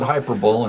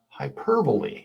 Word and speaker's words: hyperbole: So one day in class I said hyperbull and everyone looked at me funny. So, I learned quickly that it's pronounced hyperbole. Yeah. Rhyming with you see at the end.